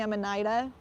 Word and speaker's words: Amanita: like mycology centric environments so I'm always gonna say Amanita I'm never gonna say I'm an Ida just doesn't feel normal in my mouth even though a lot of other people do that I say rasuluh and